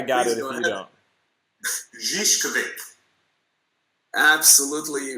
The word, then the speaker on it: Zivkovic: Zivkovic. Absolutely wrong. I was gonna go Viskovic.